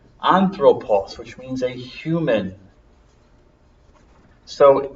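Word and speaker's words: ἄνθρωπος: word anthropos human being anthropause I wrote it before but I'll write it again Omega long o anthropulse which means a human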